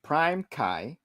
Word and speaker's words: PrimeCayes: that K and and did you say K's or Kai how do you say that oh it's Prime Kai um Prime just call